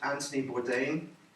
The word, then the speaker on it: Anthony Bourdain: There was a man called Anthony Bourdain, that's how you say it.